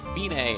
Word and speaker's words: fine: C it looks like fine but it's pronounced Binay and it means if the end the finish